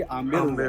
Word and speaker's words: आमेर: तो ये अम्बरीश के नाम से ये आम्बेर हो गया, और फिर धीरे धीरे इसको प्रोनाउंसिएशन के अंदर इसका बी साइलेंट कर दिया गया, और ये तब से लेके अब तक आमेर के नाम से जाना जाता है।